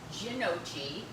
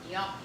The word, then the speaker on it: gnocchi: that we have because people have pronounced it gnocchi, gnocchi, and after they give up for a while, they just take the menu and they point and they're like, we'll have this. So the correct pronunciation is gnocchi.